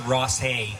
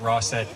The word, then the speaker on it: Rossett: in Queens County, and some pronounce it Rossay, but for the purpose of our song, we call it Rossett.